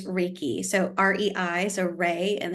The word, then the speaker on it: Reiki: have misconceptions about what this is but it's Reiki so REI so Ray and then key Ki